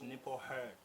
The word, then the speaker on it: Nipho Hurd: Igama lakho ngilipronounce kahle or? Yes. It's NIPHO, HURD.